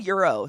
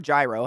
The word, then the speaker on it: gyro: Oh, who said euro? Someone said a euro or gyro, however you want to pronounce it.